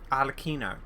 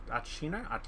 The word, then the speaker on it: Arlecchino: Oh, I had to double check because I was like, I'm pretty sure that's the orphanage thing that Arlecchino, that's how you say it, Arlecchino, whatever, runs.